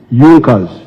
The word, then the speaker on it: Junkers: However, there was a strong business group in Prussia known as Yonkers. It is written Junkers, but they pronounced pronounce it Junkers.